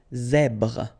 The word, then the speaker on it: zèbre: Well, Z combined with the E accent grave. E accent grave is, so I don't know if you remember, it's pronounced A. Okay, so really open A. Okay, so you get the sound Z, Z here. So the full word goes like zèbre. Okay, zèbre.